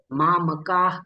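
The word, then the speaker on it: मामकाः: मामका पांडवा असंही नाही तर मामका फक्त हवा तोंडामधून सोडायची आहे मामका पांडवा किम कुर्वत संजय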